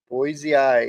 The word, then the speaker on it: boisei: Boisei, it's pronounced.